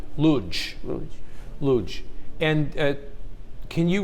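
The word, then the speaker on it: Łódź: Well, of course, you got problem here because L has got to change to L. L or L. So Lodz is actually has a first letter L with a, and this is L now, not L. So the right way to say it is Lodz.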